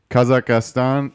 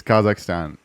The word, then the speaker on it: Kazakhstan: we go a comment kazakhastan it's Kazakhstan three syllable word not four there we go thank